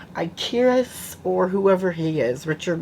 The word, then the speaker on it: Ikaris: His name is pronounced Ikaris, like Kid Icarus, the video game, way back in the like early 80s, 90s.